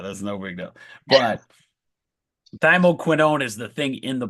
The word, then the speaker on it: thymoquinone: It's thymoquinine. It's thymoquinone. So it's in that similar family. It's not a huge deal that you don't know that. That's no big deal. But thymoquinone is the thing in